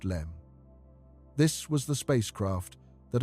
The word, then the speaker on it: LM: the lunar module, the LM pronounced LEM.